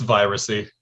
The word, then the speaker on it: Viracy: What's the proper way to pronounce that? It's Viracy.